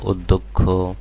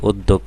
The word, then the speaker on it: অধ্যক্ষ: এটা বিগত বছরে আসছিল তো দেখো এখানে প্রথমে অ আছে এরপরে জ ফল আছে সুতরাং অ এর উচ্চারণ আর অ থাকবে না ও এর মত হয়ে যাবে অধ্যক্ষ হ্যাঁ তাহলে এখানে অ এর উচ্চারণ ও হয়ে গেল অধ্যক্ষ এরপরে দেখো গ এর